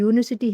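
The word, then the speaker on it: university: जबकि यूनिवर्सिटी है। इसका उच्चारण किससे होता है? यू से। यानी कि वाई यू से होता है। यह क्या है? यह कंसोनेंट साउंड है।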